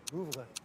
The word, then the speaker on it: Louvre: The Louvre? Is that how you say it? How do you say it? Louvre. The Louvre. Louvre. It's French. The Louvre.